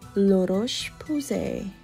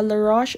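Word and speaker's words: La Roche: baby daily care and lurosh that's how they pronounce apparently but yeah laroche it's quite pricey for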